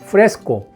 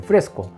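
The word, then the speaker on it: fresco: 프레스코, 스펠링이 F-R-E-S-C-O, 그래서 프레스코.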